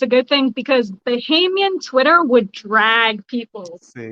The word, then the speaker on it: Bahamian: And second of all, you actually pronounced Bahamian right. So Oh, way to go. Most people say like Bohemian, hey.